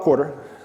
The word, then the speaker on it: Quarter: Now, it is pronounced like financial quarter, and it is an acronym, which actually stands for quarter up and to the right. But essentially, we take all of your data.